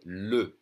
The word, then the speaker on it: le: We have a bunch of two-letter words, and the E in second position is going to be pronounced E, as in le.